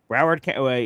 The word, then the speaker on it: Broward: He says, uh, Gino Smith finished his stellar career as one of, uh, is that Broward? Is that how you pronounce it? Broward County. Yep. Okay. Broward, he finished his stellar career as one of Broward County's top passers.